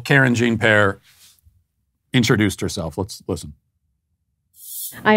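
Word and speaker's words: Karine Jean-Pierre: And her name is Karine Jean-Pear. That's how I'm going to pronounce it anyway. And this is how Karine Jean-Pear introduced herself.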